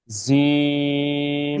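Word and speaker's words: ج: Clear শক্ত করে রফিকুল ভাই খেয়াল করতে হবে জিম এভাবে আমরা উচ্চারণ করব সবাই একসাথে জোরে জোরে উচ্চারণ করেন ওকে এই জি অক্ষরটা যদি শব্দের শুরুতে আসে তো কেমন আসবে?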